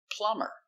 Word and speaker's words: plumber: Example, plumber. We put e r, but the b is silent.